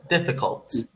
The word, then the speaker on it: difficult: difficult difficult excellent uh they can't do t sound at the end difficult uh your your tongue is going to touch the roof of your mouth towards the front behind your teeth like d t yeah not with